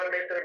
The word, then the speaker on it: mater: मीटर नहीं है, मेटर है, MATER, MATER भी नहीं है, MATER है।